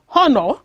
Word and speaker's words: honor: For such words that begins with the mute H, as in the silent H sound, which is silent or not pronounced, words such as honor, honest, hour, take the article an.